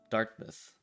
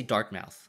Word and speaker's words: Dartmouth: Even though, like, it's supposed to be pronounced Dartmouth, but this is mouth. I know, it's dumb. You don't say dark mouth, right?